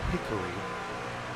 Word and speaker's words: Hickory: Gonna go on board here with Truth Hoke out of Hickory, North Carolina. Now, of course, north of the border, we would call that Hickory. But in the South, that's all one. That's all one syllable.